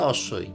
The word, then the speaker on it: অশ্ম: অতালবস্বয়ময় অশ্ম, মানে অশ্ম তো আমি বললাম বোঝানোর জন্য, আসলে উচ্চারণটা অশ্বই।